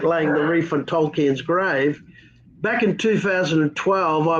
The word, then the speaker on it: Tolkien: with the whole world, explain to us about Tolkien. How do you say Tolkien? Tolkien, is it just Tolkien, right? How do you pronounce it?